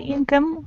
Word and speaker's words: income: The stress is on the first syllable, you have to remember it.